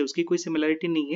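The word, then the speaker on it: simile: तो ये हमने देख लिया सिमिले का एग्जाम्पल, उसका प्रोनाउंसिएशन करेंगे हम सिमिले।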